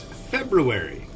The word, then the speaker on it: February: It's February.